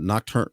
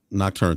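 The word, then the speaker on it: Nocturne: medium uh Castlevania uh nocturn I can't pronounce that I always nocturn nocturn thank you I always butcher that uh Gran Turismo I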